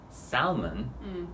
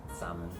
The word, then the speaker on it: salmon: how it's spelled um that a-l you know sound you would think it's in there but it's not it's a trick don't listen to it don't trust it it's salmon it's a trick a lot